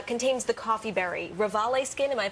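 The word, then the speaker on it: Revalé Skin: Rivali Skin, am I pronouncing that correctly?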